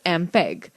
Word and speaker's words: MPEG: Students, note the fact MPEG, pronounced as MPEG, stands for Moving Picture Experts Group.